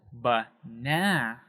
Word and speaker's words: banana: So in that example, banana, we have that second syllable there, that banana. That is said a little bit louder and a little bit higher, a little bit longer, banana, right? You're emphasizing it a little bit more.